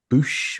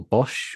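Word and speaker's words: Boushh: yeah, second figure is a 1983 Princess Leia Bush or Bosch or however you want to pronounce it. Yeah. Boosh.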